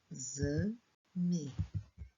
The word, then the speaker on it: exame: Coloco o X, mas na hora de ler, é como se aqui fosse um Z, não um X. Exame. Se escreve com X, mas o som é de Z.